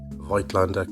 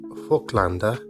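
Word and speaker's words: Voigtländer: Vitlander, or more like Flander in its original German, was a company founded in Vienna by Johan Kristoff Folklander in 1756.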